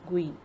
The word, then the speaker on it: GUI: Windows is a graphical user interface, GUI pronounced as GUI, between a computer and its user.